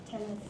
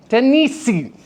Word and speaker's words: Tennessee: So if I were to give a syllable stress to the first and second and then unstress the last, it would be, it's hard. Tennessee. You see how unnatural that sounds?